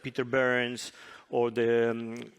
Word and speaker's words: Behrens: Slowly but surely, in Germany and Switzerland, some of these examples, like Peter Behrens or the, how do you pronounce? Behrens, sorry.